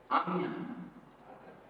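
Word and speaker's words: Ajna: Agnya. Agnya. Agnya. In Bengali, Bangla pronunciation.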